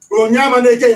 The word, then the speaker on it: Onyema Neke: Onyema Neke, in fact, that's the correct pronunciation.